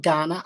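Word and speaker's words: Kaurna: which is indigenous culture is the ghana people but it's spelt k a u r n a yep i had to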